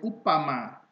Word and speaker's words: Umpama: juga harus dipelajari jadi kata Umpama harus dibaca sebagai upama Umpasa harus dibaca sebagai kupasan karena Hai Cup huruf M tidak dibelakangku harus diganti P ya jadi upama dengan uppasa